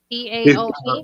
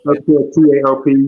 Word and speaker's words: TAOP: TAOP. TAOP.